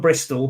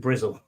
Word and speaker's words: Bristol: from he's from breast it's from Bristol but everyone calls it bristle all right our good